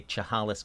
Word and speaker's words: Chehalis: Oh, man, I should learn how to say Chehalis Country.